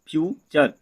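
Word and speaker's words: future: तो फिर देखिए दोस्तों एल ई सी टी यू आर ई लेक्चर, एफ यू टी यू आर ई फ्यूचर, सी यू एल टी यू आर ई कल्चर।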